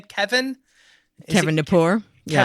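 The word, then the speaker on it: Gnapoor: Kevin Kevin Napor. Yeah, Kevin the G Napor? is silent when I sneak in your door.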